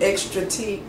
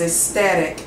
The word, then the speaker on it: ecstatic: I thought I saw an R in that, and I said extra T. The right pronunciation is ecstatic and not extra T.